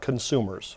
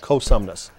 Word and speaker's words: Cosumnes: If you go to Cosumnes, it's not consumers. No N in there. Perfect. It's Cosumnes.